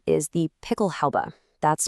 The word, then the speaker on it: Pickelhaube: So its official name is the Pickelhaube. That's pronounced Pickelhaube.